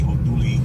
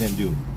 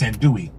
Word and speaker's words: andouille: Yeah, so it's andouille. Even though it looks like andouille.